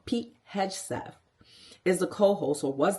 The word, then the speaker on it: Hegseth: Now, Pete Hegseth, I said it wrong, Pete Hegseth is the co-host, or was the co-host, for Fox and Friends Weekends.